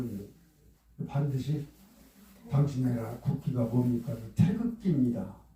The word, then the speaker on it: 태극기: 그래서 태국기 하면 그건 발음이 틀리고 틀리게 알고 있는 반드시 당신 국기가 뭡니까? 태극기입니다.